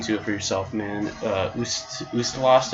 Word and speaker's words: Ustalost: it for yourself man gusta lost i believe is how you say it I can't really